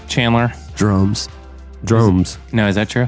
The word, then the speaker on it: Dromes: Like drones with an M.